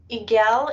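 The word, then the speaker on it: Eigel: looks like we have igel and i'm going to spell it because i'm not sure if i'm saying that correctly e-i-g-e-l it's igol can you hear me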